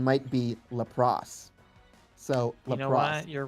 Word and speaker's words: Lapras: Well, well, cuz yeah, like in Japanese it's lelass, but because of the ambiguity between the L and the R, they changed it in English to lapros, and we call it lapras.